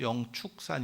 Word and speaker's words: 영축산: 여기가 영축산 비로자나 영축산 그런데 어 그게 축 빠름 도 나고 취 발음도 나고 추 발음도 납니다 아 그래서 저도 어렸을때 아니면 여기 행자 생활할 때도 0 축이 보다도 0 취 가 맞지 않나 라고 생각을 했었는데 아 공식적인 명칭도 영축산 이고요 그리고 어 무조건 아무튼 축으로